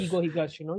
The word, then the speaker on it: Keigo Higashino: It's written by, you can Keigo pronounce the name. Higashino, Yes, Keigo Higashino, yes.